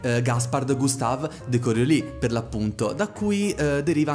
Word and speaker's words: Coriolis: prima di tutto ho sentito fin troppe persone pronunciare il titolo di questo gioco per così come si legge ovvero coriolis no ragazzi purtroppo tutte queste persone mi duole dire che la pronuncia corretta per l'appunto è correo lì dal nome del fisico francese gaspard gustave de corio